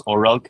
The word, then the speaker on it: Oralk: So it's pretty much type the name Claro in reverse. It's pronounced as Oralk.